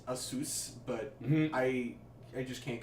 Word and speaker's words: ASUS: happy I know that according to the company it's pronounced a soos but I I just